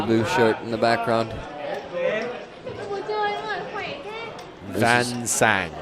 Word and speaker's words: Van Sang: Van Sang. Oh, Van Sang. Von Shong was told. I'll be corrected and I'll say it properly tomorrow, but for the last time tonight, Win Van Sang.